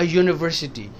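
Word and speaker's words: university: के आए हैं अ यूनिवर्सिटी ये तो वोवेल है पर इसका साउंड यू का है अ यूनिवर्सिटी तो आप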